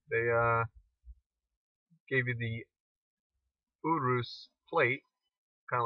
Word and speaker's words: Urus: the Lamborghini Urus, not Urus as some people might know it as, but it's called, it's actually pronounced Urus.